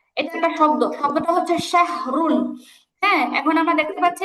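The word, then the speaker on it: شهر: তার ডানে জবর আছে, তাহলে এটা রটা কি করে পড়তে হবে, মোটা করে পড়তে মোটা হবে। হবে। যেমন শাহর, উচ্চারণ কি হবে, শাহর।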